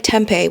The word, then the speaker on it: Tempe: It's spelled like Tempe without the H.